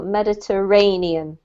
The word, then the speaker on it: Mediterranean: this is mediterranean yeah so we pronounce the emphasis is on this syllable mediterranean mediterranean yes all right